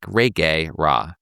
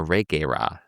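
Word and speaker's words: Reguera: Her last name is pronounced more like Ree Ra." So, Anna de la Reerra. And the first R is a strong Spanish R. We call it the double R.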